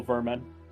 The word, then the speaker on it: Vermin: The noble vermin. Rataconda. Worman kind of fucks. Das Vermin, but pronounce it almost vermin, you know? A little bit of a German W.